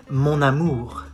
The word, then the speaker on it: mon amour: You say mon amour. You do the liaison. Mon amour. Why? Because it ends with an N and the next word starts with an A. So you link both. Mon amour.